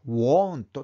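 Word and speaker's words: won't: がね will not の短縮形は want た発音しますね眞平はシーン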